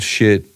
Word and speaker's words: Schiit: It's spelled SCHIIT. It's shit. It's pronounced shit audio.